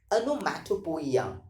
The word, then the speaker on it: onomatopoeia: The pronunciation of this particular word is onomatopoeia.